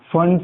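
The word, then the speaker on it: Pfund: पहले Lyman series, फिर बामर series, फिर पास्टियन series, फंड series, P silent है, हम्फ्री सीरीज।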